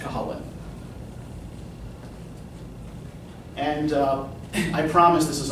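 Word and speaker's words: Cú Chulainn: Cuchlainn, pronounced Colin.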